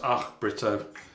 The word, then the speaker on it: Ach Brito: It's actually pronounced Ach Brito, almost like you're trying to spit Ach.